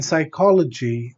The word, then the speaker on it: psychology: You see, what's happening is in psychology there are four syllables: psy, co, lo, g. We're just stressing the syllable before the suffix, which is logi.